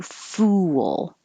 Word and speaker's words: fool: Number 5, you round your lips, and because you make them rounded for the oo, then you unround them for the L, it makes almost a W. Fool. Foo, you have to get very small.